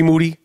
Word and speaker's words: Moody: no Bruno um G Moody last name rhymes with Duty speaking of no Bruno